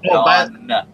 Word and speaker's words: John: Well, Ron, go back and watch the 20 other videos. It's John. You'll learn some more. He just subscribed to you. You already got his name wrong. It's John.